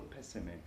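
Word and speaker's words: pésame: words always mucho pesum a mutual PESA me with the accent on the first syllable of pessimist mucho PESA made my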